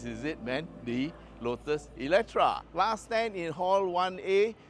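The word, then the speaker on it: Eletre: Okay, so this is the latest thing that's exciting the motoring world, the Lotus Electre. Okay, it's spelled with E-L-E-T-R-E, but it's pronounced with a A. Yeah, Electra.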